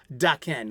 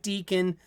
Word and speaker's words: Daken: word meaning Mongrel and it's actually pronounced daken not Deacon no not um I